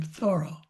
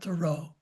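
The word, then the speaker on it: Thoreau: They say that he pronounced his name Thoro, not Thorough as the way we many of us have said it, but I I can't get used to thorough as much.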